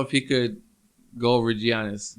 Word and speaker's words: Giannis: he could go over giannis janice is hungry i don't know if i pronounce his name right giannis giannis giannis yeah greek or something right yeah yeah it's like a y the greek freak the